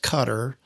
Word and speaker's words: Qatar: some think it's Qatar, but it's actually Qatar, pronounced Qatar, Q A T.